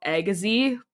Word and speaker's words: Agassiz: got a city called Agassiz, but the way it's spelt, it looks like Assagiz. It's pretty entertaining listening to people try and pronounce that one without knowing.